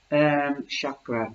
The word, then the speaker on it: chakra: And chakra, it has the two syllables. There is like karma.